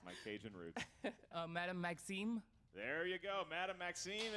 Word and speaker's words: Madame Maxime: pronouncing that well. It's my Cajun roots. Madame Maxime.